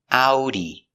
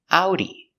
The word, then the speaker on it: Audi: It's a like apple and oo like boot. Together. Ow. Here it is together. Ow. D out e Audi Audi.